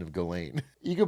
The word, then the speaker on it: Ghislaine: Well, the challenge is is that Gazlain Maxwell has every reason to lie. She, after all, is Why does he keep changing his pronunciation of Galain?